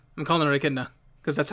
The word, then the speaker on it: Echidna: and i don't care i i know it's pronounced kidona i'm calling her echidna because that's how it's spelled okay so visually